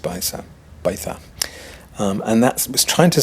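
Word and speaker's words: Baixa: I think it's pronounced Baitha.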